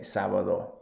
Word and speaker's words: sábado: The World Cup ends on Saturday, sábado. Remember the accent on the A? So really, really pronounce that. Don't be afraid to do that.